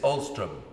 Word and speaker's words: Alstrom: but there's nothing about you about you ulstrom is that right have i pronounced that right you have well done i